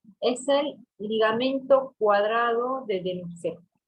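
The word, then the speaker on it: Denucé: el ligamento cuadrado de Denusé. Denusé va con una C de casa y acento en la última.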